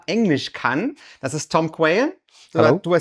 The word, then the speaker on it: Quayle: Das ist Tom Quayle.